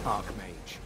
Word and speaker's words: Arch-Mage: you have our gratitude Arc Mage yes I I pronounce it Arch Mage but I suppose it that's fine you did say